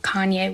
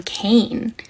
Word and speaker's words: Kanye: So I do not listen to Kanye West. I have never heard a Kanye song. I used to pronounce his name Kane because I'm a little dyslexic and that's how I read it.